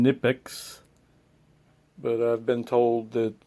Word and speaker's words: Knipex: I usually pronounce the company name KNIPEX, but I've been told that the proper pronunciation is KNIPEX.